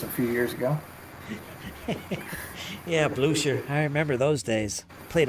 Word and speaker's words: Blucher: I know that you were touting his Buchler rules a few years ago. Yeah, Blucher.